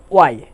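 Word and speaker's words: why: না বলে বলবো উইচ, হোয়াই না বলে বলবো ওয়াই, আর হো না বলে বলবো হু।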